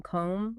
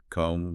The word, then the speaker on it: comb: Well, for instance, you'll notice that M at the end of a word, like in comb, lamb, thumb, almost always has a silent B, right? Comb, lamb, thumb.